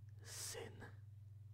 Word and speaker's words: syn: Does your son, so we just learned the word son, sin, S-Y-N, not S-I-N.